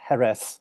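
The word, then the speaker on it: Jerez: affluence of the city Jes pronounced herth locally leads to Sherry as the anglicanization of the local drink DEA frontia means of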